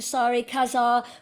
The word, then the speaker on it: Sari Casaer: to Belgium and we have the wonderful Dr sorry Kazar with us this morning how are you doing